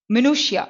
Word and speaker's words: minutiae: ஸோ இது எப்படி pronounce பண்ணணும்? மினுஷியா. ஓகேயா? ஸோ மினுஷியான்னு ப்ரொனவுன்ஸ் பண்ணுவோம். ஸோ வேர்டை பார்த்துக்கோங்க. ஸோ வேர்டு பார்க்கும்போது நம்ம ஒன்று சொல்லுவோம், ஆக்சுவல் ப்ரொனவுன்சியேஷன் இஸ் டிஃப்ரெண்ட்.